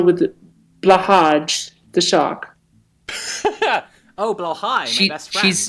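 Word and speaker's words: Blåhaj: Oh, Blowhigh, my best friend. She's It's trans, pronounced right?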